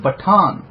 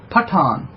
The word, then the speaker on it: Patan: Then the Prophet of Islam gave them a title called Batan, which later became the word Patan with a P. Before it was, remember, the Arabic language does not pronounce a P, it pronounces a B.